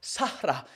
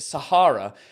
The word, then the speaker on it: Sahara: We pronounce it Sahara because we're twats. But I think it's pronounced Sahara or something like that, right?